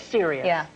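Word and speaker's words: Sirius: so you know and it's Cyrus black or serious it is serious serious black I love the twist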